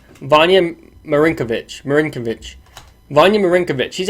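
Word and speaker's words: Vanja Marinković: it's actually not that it's actually not that hard of a ninja pronounced Vanya Marin kovitch Marin kovitch Vanya Marinka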